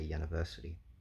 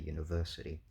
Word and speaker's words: university: say uh university, um the first syllable has still got some stress on it, right? That doesn't become ya. You don't say ya-niversity. Um but clearly the primary stress is on verse, right?